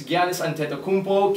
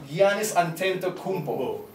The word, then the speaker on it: Giannis Antetokounmpo: They're taking on Andrew Wiggins, Giannis Antetokounmpo, Kelly Olynyk, Rudy Gobert, Dante Exum, Dennis Schroeder,